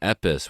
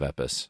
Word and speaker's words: EPOS: second edition it is from epis which is spelled epos if you are into